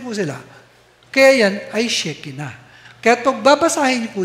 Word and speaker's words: Shekinah: At ito po, Shekinah po, ang pagkakabigkas dyan. Hindi po Shekinah. Ang gumagawa lang po noon ay yung mga Amerikano.